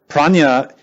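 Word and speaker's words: प्रज्ञा: Prajna is the wisdom that penetrates. Prajna in Sanskrit is 2 syllables, pra and nya. Nya means knowledge. Pra means beyond.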